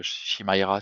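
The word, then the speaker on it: Chimaira: Camira par exemple, Shimaira si on le prononce tel quel fais des concerts des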